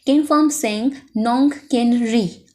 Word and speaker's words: Kynpham Singh Nongkynrih: How to pronounce it? Kynpham Singh Nongkynrih.